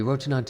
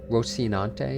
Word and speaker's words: Rocinante: Scuffed as they may appear, Rocinante is in pristine condition.